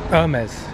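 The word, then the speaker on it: Hermès: this herm is ice to pronounce it right Irma's oh look there's amazed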